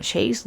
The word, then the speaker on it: Say: 자, 그 다음에 an economic theory of 이게 say인데 아마 이 사람이 프랑스 사람인가? 아무튼 그래가지고 쉐이라고 읽어요. Shay's law.